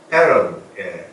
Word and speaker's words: pattern: pattern, 미국식 발음이죠. pattern. 영국식 발음은 패턴 합니다.